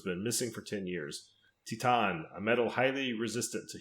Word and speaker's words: Titane: It is called, and we did look this up to see what the actual proper pronunciation is. It's TITANE.